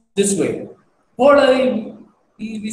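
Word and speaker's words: polhai: I have used the word H is because the pronunciation is L, polai. We don't say polai. We say polai, polai. You know, L, L, polai.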